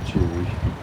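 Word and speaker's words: TUI: How's that pronounced? Toby. I always used to say T-U-I. T-U-I.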